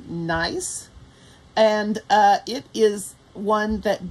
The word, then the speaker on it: Gneiss: original pattern it is called or pronounced nice and it is one